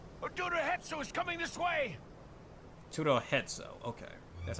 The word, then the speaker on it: HidoriKuro: HidoriKuro, okay. That's how it's pronounced.